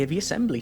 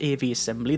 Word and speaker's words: Aviassembly: Generic greetings and welcome to AV Assembly. Today's beverage is a very nice Royus or Red Bush Tea. So, welcome to I believe it's pronounced AV Assembly.